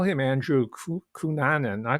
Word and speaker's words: Cunanan: In truth, it's pronounced Cunanan.